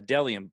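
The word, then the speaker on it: Bdelliom: it is but my second sponsor it's dellium pronounced d uh dellium spelled b-d-e-l-l-i-o-m always pointed that shirt i did great today nailed it first tara dellium is a men's and women's minimalistic brand that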